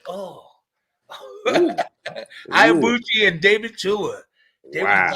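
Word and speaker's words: Ibeabuchi: Ike Ibuchi.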